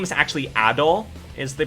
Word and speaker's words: Adol: just now uh because this name is actually adol is the pronunciation so you know there's been that i